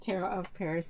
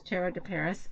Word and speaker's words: Tarot de Paris: of tarot De Paris I've said it wrong all week I said tarot of Paris it's tarot to Paris and I wanted to show